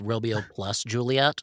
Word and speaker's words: Romeo + Juliet: believe it's pronounced Romeo plus Juliet.